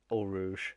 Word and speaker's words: Eau Rouge: Good evening to Rick, who says El Rouge, as he pronounced it as well. Um, Yeah, of course. um, I do have my pronunciation of the Midlands accent of Eau Rouge in my or Al Rouge.